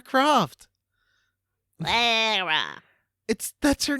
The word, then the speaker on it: Lara: Why can't Americans say Lara? Like, It what seems is- like pretentious. but that's her name. It's Lara Croft. Lara.